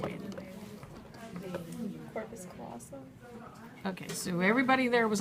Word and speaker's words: callosum: Corpus callosum. Okay, so everybody there was left and right except right now the longitudinal fissure. And the corpus callosum is not paired either.